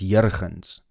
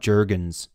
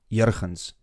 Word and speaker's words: Jurgens: It's Jurgens. Not Jurgens. Ek is Afrikaans, so for me is it makkelijk. Jurgens.